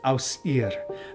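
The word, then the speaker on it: Ausir: Okay, so it's Aus-ir. The I is pronounced ir.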